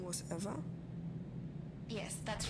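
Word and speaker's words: Ewa: lifeless machine and besides ever is spelled e w a not e v e I thought we agreed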